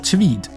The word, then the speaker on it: Tveit: My first choice is this guy, Jakob Tveit, or Tveit. I think it's actually called Tveit. That's probably how you say it in Norwegian.